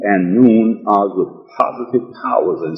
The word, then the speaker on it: Noone: Noone was also mentioned in these writings, and for the benefit of the listening audience and reading public again, Noone is definitely spelled N-O-O-N-E and pronounced Noone.